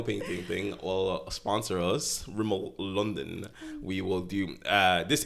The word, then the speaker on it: Rimmel: It's not Ramel. How'd you pronounce it? Ramel. Well, Rimmel.